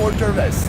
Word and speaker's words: hors d'oeuvres: Like a hors d'oeuvres. Hors d'oeuvres. Is it singular? There is an S, but the S is silent.